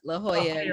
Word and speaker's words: La Jolla: How do you pronounce that again? La Jolla.